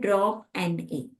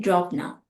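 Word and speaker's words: dropna: very very first method very common method drop n a we also like pronounce it drop now okay so this is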